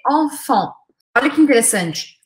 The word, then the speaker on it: enfant: A primeira se escreve EN, a segunda se escreve AN, mas eu pronuncio da mesma forma, nas duas sílabas. Enfant. Lembrando que o T aqui é o final. Não tem som de nada em francês.